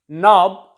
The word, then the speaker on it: knob: K is silent here. In the same way, know, to know someone, janna. Knob, knob of gas cylinder, knob of anything, any machine.